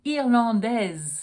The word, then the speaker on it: Irlandais: I would say she's Irlandaise. Then I would need the E to allow me to pronounce the S. But we're talking about Centre Culturel Irlandais, which is masculine, so we don't have an E, so we don't pronounce the S.